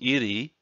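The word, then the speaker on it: 入: This part by itself is pronounced iri, which means to enter in.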